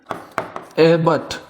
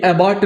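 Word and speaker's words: abbot: जैसे जब हम एबट की बात करते हैं, ये एबॉट नहीं है, इसको हम एबट पढ़ेंगे, ठीक।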